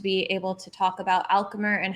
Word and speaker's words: Alchemr: topics our favorite topics so your company alchemer if i got that correctly pronunciated that's correct thank you welcome to